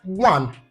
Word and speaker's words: one: So the word one, even though it starts with the letter O, the letter O is not pronounced. What we pronounce is the W sound.